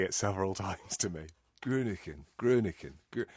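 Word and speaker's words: Groningen: how you pronounce it that's that's how you pronounce it because I made people say it several times to me grunin grunin not Gren which is what I've been saying before uh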